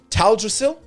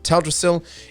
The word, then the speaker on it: Teldrassil: uh uh up in up in taldrasil i believe it's pronounced or said um teldrassil in the uh in